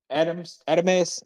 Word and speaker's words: Adames: I don't want to mispronounce his last name. Uh, Carlos Adames.